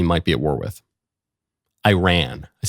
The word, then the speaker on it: Iran: You say Iran. Don't you know the country is pronounced Iran? Iran.